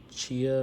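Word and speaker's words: Tchia: eBay purchases I got Chia or tiia pretty sure you don't pronounce the T but olti Edition uh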